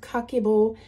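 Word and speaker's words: kakeibo: what cockable is and it's the pronounced cockable which literally means household accounts book so in Japan everyone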